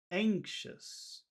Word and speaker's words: anxious: you hear that sound where's the accented syllable which which syllable has the strongest sound anxious anxious I anxious anxious no I think I disagree with you I think it's the first syllable anxious anxious anxious anxious